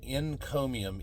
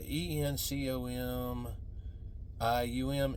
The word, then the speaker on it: encomium: might sound like it starts with an ey but it's NE n encomium and uh it's a